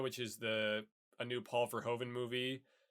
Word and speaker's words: Verhoeven: And then Verhoeven. Verhoeven. Yeah. It's spelled. Look here. It's like Ver, and then like ho, like you're a hoe, HOE, yeah, and then.